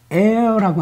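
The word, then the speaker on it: heirs: 관련하여 우리는 여러분 그 상속자를 에어라고 하는데요 이게 h는 묵음이에요 airs인데 여기 앞에 코가 붙으면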